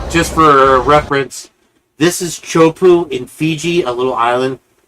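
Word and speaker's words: Teahupoʻo: This, okay, just for reference, this is Chopu in Fiji, a little island in the Fijian island chain there. It's a very sharp, shallow reef where this break is called Chopu.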